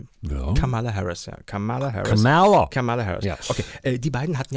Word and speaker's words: Kamala Harris: Die immer häufiger im Fernsehen Camilla Harris ausgesprochen wird. Ist das so? Ja, fällt mir immer stärker auf. Kamala Harris.